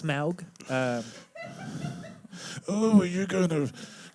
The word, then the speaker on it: Smaug: You look like Smog's penis. I've heard that before, and I always enjoy it. It's Smaug.